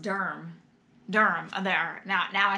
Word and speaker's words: Durham: it's not durham oops they even put it pronounced durm durham there now now i sound like a